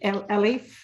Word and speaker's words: Elif: So yes, do I pronounce it Elif? Yeah, exactly. Perfect.